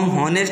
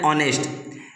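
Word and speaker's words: honest: An Indian, N orange, N union, an ऑनेस्ट, इसको हम हॉनेस्ट नहीं पढ़ते, इसको हम क्या पढ़ते हैं, ऑनेस्ट।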